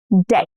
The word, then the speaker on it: debt: Debt. Debt. Not debt.